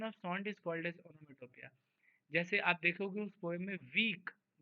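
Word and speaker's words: onomatopoeia: एक तो स्पेलिंग इसका बहुत टेढ़ा है, हम लोग बचपन में पढ़ते थे ओनोमेटोपोइया, है ना, बस ऐसे ही स्पेलिंग ताकि सही लिख पाए, बट पढ़ते रियल प्रोनाउंसिएशन होना चाहिए। ओनोमेटोपिया, देखो मैं लिखा हूँ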